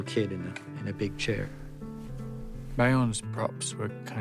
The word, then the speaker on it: Beorn: Bayon.